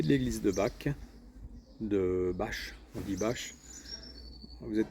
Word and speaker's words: Bach: Bon là, j'arrive à la ferme Saint-Jacques à Bâche, ça s'écrit bac B ch. Ça se dit bâche, c'est ma destination du jour.